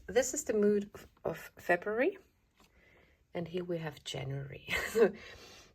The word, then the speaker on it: Februar: Februar is also very Schaffhauser, Swiss German. Our R is kind of not there, so Februar.